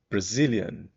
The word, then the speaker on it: Brazilian: pessoa que do Brasil brazilian bom então o a do Brazil vai ser o mesmo aquele a sem vontade zilian aqui o Zil vai ser o forte também e esse finalzinho tem